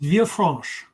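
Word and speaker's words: Villefranche: city and this is bob maybe you can pronounce for me because i don't want to get it wrong it is via france via france okay which is uh very close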